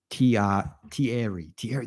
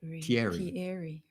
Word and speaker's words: Thierry: Thierry. That's how you say it. Thierry.